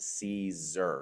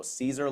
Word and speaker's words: Siser: open up with but the name is pronounced Caesar so Caesar like the salad uh it's actually the